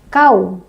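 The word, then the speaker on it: الكوثر: Kau ya, bukan kau ya. Kau, ka, bukan ko. Kau. A'toinakal kautsar. Kau itu dinamakan apa tadi coba?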